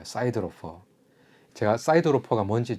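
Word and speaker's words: siderophore: 용어로 이런 표현이 있어요 미국식으로 발음하면 사이드로 이렇게 발음하는 거고 영국식으로 하면 데로 4 이렇게 발음을 하는 이제 이런게 있대요 제가 뭐 미국 사람이 대화를 해 본 건 아니지만 어 미국식이 조금 더 멋있어 보이니까 미국 식로 발음해 볼게요 사이드 로퍼 제가 사이드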